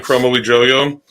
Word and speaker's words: Kromowidjojo: So she's like sort of been the spiritual successor to Femke Heemskerk and Ranomi Kromowidjojo. Like, perfect pronunciation of that last name.